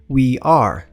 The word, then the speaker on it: we are: Para pronunciar essa palavra, basta dizer we are. O I do começo é um I mais tensionado. Então, ao invés do I normal que a gente tem no português, tenta tensionar ele um pouco mais